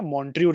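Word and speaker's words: Montreux: Part था लेकिन अब मॉन्ट्रियो रिकॉर्ड का पार्ट नहीं है। सो मॉन्ट्रियो रिकॉर्ड क्या होता है? मॉन्ट्रियो रिकॉर्ड में मॉन्ट्रक्स मॉन्ट्रियो रिकॉर्ड में हालांकि एक्स लगता है लेकिन एक्स साइलेंट होता है।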